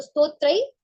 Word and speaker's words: स्तोत्र: स् पढ़ना है नहीं जो ज के ऊपर र वाला जो रफार आएगा ना वो पहले पढ़ा जाएगा जैसे स्तोत्र स्त्र पढ़ना है जी हा र का उच्चारण पहले होगा है ना जैसे अपन